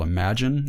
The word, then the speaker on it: IMGN: And the last thing I did was I went to I think it was a publisher and developer called Imagine. It's spelled I'm trying to burp, sorry.